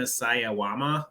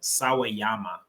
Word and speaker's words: Sawayama: to shout out Rena sayawama I'm from I'm butchering that last name sawayama is uh the better pronunciation of it I want to shout